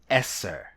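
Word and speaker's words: עשר: The Hebrew number 10 is pronounced Eser.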